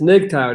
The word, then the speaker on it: MGTOW: just realized that nicktile i keep saying mgtow but it's nicktown that's how you say it oh man i'm [